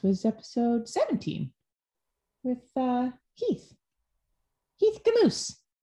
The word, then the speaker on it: Heath Gmucs: Heath Gmucs. Rhymes with caboose.